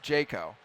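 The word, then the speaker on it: Jako: Hi there, my name is Jaco, pronounced Jaco.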